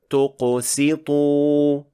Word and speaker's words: تقسط: Here, Sin was mispronounced as Sad because it was affected by the Qaf and the Ta, which are both heavy letters. And it should be pronounced like this. تقسط.